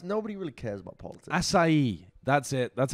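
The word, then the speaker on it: açaí: Acai. That's it. That's how you pronounce Acai? It. Acai. It sounds a bit like ass I eat.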